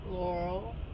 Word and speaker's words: Laurel: How's it pronounced? Laurel.